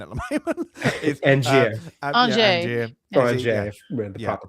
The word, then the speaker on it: Angier: Angier. The proper pronunciation.